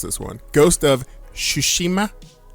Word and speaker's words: Tsushima: this one ghost of sushima sushima so i guess the tea is silent yes i never understood